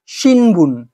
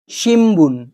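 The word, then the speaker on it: 新聞: এটা উচ্চারণ হয়ে যাবে শিম্বুন শিম্বুন শিম্বুন শব্দের অর্থ হচ্ছে খবরের কাগজ নিউজপেপার ঠিক আছে তাহলে এই এন যখন বি এর সামনে আসবে তখন এর প্রোনাউন্সিয়েশনটা কিন্তু এম সাউন্ডে কনভার্ট হয়ে যাবে তো এইটা গেল প্রথম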